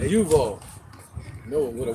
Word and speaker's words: Yuval: Yuval, yep, Y-U, not just like Duval. But Yuval.